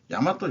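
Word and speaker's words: 大和: 이런 거를 쓰는 거죠이 일반적으로 한자식 읽으면 다이아라고 읽어야 되는데 아니다 이거예요 야마도라 읽는 야마또 정권 그리고 일본에는 야마또 성씨가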